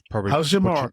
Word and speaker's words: Hachimura: Hachimura. You got it. Yeah, got his pronunciation okay.